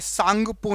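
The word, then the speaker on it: Tsangpo: तंगपो लिखा है ना लेकिन वहां पर ता साइलेंट होता है। आधा ता जो है वो साइलेंट होता है। सांगपो नदी कहते हैं। इसको पढ़ते कैसे हैं? सांगपो नदी। ऑप्शन नंबर ए सांगपो नदी के नाम से। जैसे सुनामी होती है। सुनामी की स्पेलिंग टी से शुरू होती है। लेकिन टी जो है वह साइलेंट रहता है। सुनामी पढ़ते हैं अपन। ठीक है? ऐसे ही सांगपो पढ़ते हैं।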